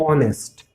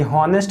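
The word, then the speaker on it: honest: उसी तरह से ये ऑनेस्ट, इसका करेक्ट प्रोनाउंसिएशन क्या है, तो ऑनेस्ट। ये हॉनेस्ट नहीं लिखा है, ये लिखा है ऑनेस्ट।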